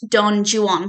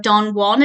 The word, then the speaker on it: Don Juan: my favorite person ever his poem is pronounced Don Jan there's a whole reason